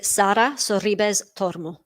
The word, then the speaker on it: Sara Sorribes Tormo: I would say Sara Sorribes Tormo. And I would also say Garbiñe Muguruza. Gosh, testing my Spanish pronunciations here. But yeah, that's how I would say those with my accent anyway.